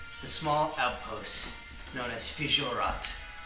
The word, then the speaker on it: Fijurat: made it to the small outpost known as Fijat. Spell that for me.